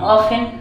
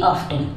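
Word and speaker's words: often: truth ऑफेन ठीक है ऑफेन में टी साइलेंट रहता है उसको पढ़ते हैं ऑफेन ना कि ऑफ्टन ठीक है तो फिर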